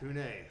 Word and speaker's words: Pooneh: Pooneh, yeah. Pooneh.